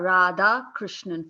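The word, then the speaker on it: Radhakrishnan: It's Sapna Rada Krishnan. Four syllables.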